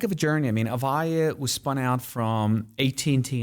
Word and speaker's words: Avaya: So one of those companies that you had a real impact on was a company called Avaya. Did I pronounce that right?